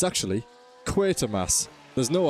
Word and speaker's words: Quatermass: It's actually Quatermass. There's no R. There never has been. It's like the Mandela effect. You think it's one thing and it's not. Quatermass Motorsports, not Quartermass. Can you believe it?